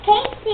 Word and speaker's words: Kasey: My name is Kasey. It rhymes with Macy.